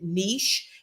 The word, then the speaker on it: niche: And you do pronounce it niche. It rhymes with sheish, okay?